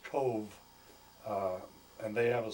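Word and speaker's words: Cobh: And then the the port is called Cove. It's C O B H but it's pronounced Cove.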